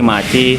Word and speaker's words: Maicih: Bahasa alay itu kan memplesetkan terima kasih itu jadi maci, terus Iya benar.